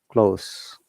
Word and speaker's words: close: noun or an adjective this s sound likes s but in close as sounds like z remember z sound and s sound close close your stressing clear okay so when it's verb it's close and when it's noun or adjective it's close yes like s sound okay okay i get